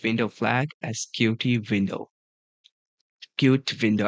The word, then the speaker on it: Qt: Cute window. Actually, it's cute. But I just always mispronounce it as mispronounce it as QT. I just say Q then T.